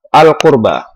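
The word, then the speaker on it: القربى: Untuk tajwid yang keenam, yaitu ada lafaz al-qurba. Hukum bacanya adalah al-qamariyah, karena ada huruf al-ta'rif bertemu dengan huruf qaf. Qaf termasuk huruf qamari, dan cara membacanya harus terang dan jelas.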